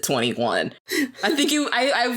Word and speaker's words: 2NE1: am and then it took me the longest time to realize how to pronounce the name i can't even tell you now what i thought it said but i i sure as hell did not think you said 21.